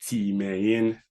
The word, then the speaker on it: Timain: So first of all, my name is Timain, and it's pronounced Timain.